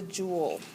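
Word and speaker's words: joule: the SI um unit of energy is the jewel that's a funny word pretty sure it's French um it's pronounced Jewel like a jewel and a crown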